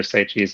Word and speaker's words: Saichi: No, I've actually run into a couple other Saichis, and that it's not all. They don't all pronounce it the same way for whatever reason. So no worries. Cool. So how it's pronounced? That's the important thing. Saichi.